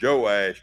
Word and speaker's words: Joash: But his name is they yes pronounced Joash, too.